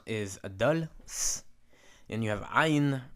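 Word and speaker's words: עין: and you have iron represented by the rough breathing it's very difficult to pronounce being produced at the back of the throat that's why it should sound like it's your breath is being cut off when I say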